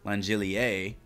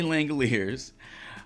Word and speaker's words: Langeliers: talk about Shane Langoliers took me a little while to uh to get the uh pronunciation of his last name correct I wanted to say langelier overthinking it a little bit there Shea langeliers uh 0.5 total bases